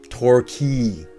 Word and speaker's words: Torquay: a place called torquay torquay because the q-u-a-y like a key right torquay however we